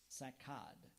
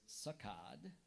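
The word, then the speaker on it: saccade: one point to another sakad are there any alternate pronunciations there is sakad can you repeat the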